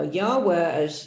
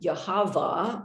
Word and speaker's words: Yahweh: Now, Yahweh, as many of you know, is if you wanted to pronounce the unspeakable, the unpronounceable name of God, spelled Yud-He Vav-He, and you were German, instead of saying, you would say Yahweh or Yahweh, and then that eventually became Jehovah, although there's no J in Hebrew.